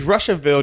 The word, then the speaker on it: Russiaville: They call it Russiaville, not Russiaville, even though it's spelled that way.